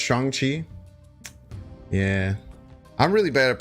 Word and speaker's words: Shang-Chi: Shang-Chi is pronounced Shang-Chi.